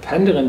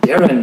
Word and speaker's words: Penderyn: Geister und heute befinde ich mich in der penderen Distillerie nein falsch es spricht sich anders aus daren Distillery und hier im ja nicht ganz in